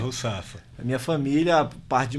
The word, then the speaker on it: Rusafa: O seu nome é Russafa mesmo, é assim que pronuncia? É Russafa.